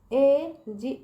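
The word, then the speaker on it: age: पहला देखिए, जब किसी शब्द के अंत में जी ई हो तो उसका उच्चारण ज होता है।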